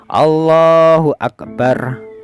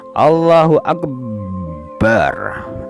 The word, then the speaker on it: Allahu Akbar: jadi lafaz kita membaca Akbarnya tadi itu harus tidak boleh tasdid harus seperti gini Allahu Akbar Nah kita tidak boleh membacanya seperti gini Allahu akbar Nah abnya ditasdid Enggak boleh ya kemudian yang kesembilan